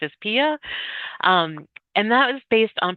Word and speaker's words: PIA: For each one of these measures, we developed a brief performance and impact analysis, PIA, PIA, pronounced as PIA.